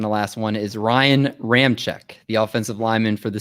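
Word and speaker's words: Ramczyk: to do that one and it is it is spelled l-o-t-u-l-e-l-e-i brad your word and your second to last one is ryan ram check the offensive lineman for the saints ram check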